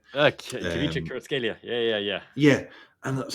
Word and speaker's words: Kvaratskhelia: signing him, but I'm going to butcher the pronunciation as well. Kvaratskhelia. Kvaratskhelia.